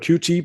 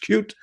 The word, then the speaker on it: Qt: Some some people call it QT but it's pronounced cute.